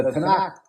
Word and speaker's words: Tanakh: The Tanakh, is pronounced Tanakh, also is the Mikra, which is Mikra, is the canon of the Hebrew Bible.